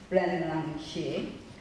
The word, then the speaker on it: Ren Lang Shi: Now, let me pronounce it correct. Ren Lang Shi, right? Ren Lang Shi.